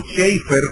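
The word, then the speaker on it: Chafer: Nelson dar de hecho Lewis o cheer como se debe pronunciar en inglés que es uno de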